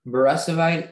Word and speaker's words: beresovite: all the information yes um borisovite is the only pronunciation is a noun and